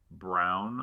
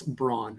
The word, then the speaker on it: Braun: AJ Brown, I'm assuming, is how we're going to pronounce that. Or is it Braun? It's not like the Parkers. It's Braun, as you would expect it to be. That's how it should be.